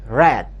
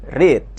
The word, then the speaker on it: read: Bentuk ketiganya adalah read. Perhatikan bacanya ya. Kalau bentuk pertama dibaca read, sedangkan bentuk kedua dan ketiga dibaca read. Tulisannya sama, namun bacanya yang berbeda.